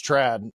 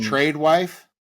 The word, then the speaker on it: tradwife: wife I think it's Trad um trade wife well it's Trad which which is short for traditional and so there's some